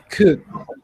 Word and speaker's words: could: Could the modal, you need to take out the L sound. You don't pronounce could. You pronounce without the L. Could. Could.